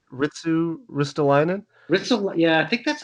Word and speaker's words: Ristolainen: But it kind of reminds me of what they used to do with Retsulainen, if I'm pronouncing his name right.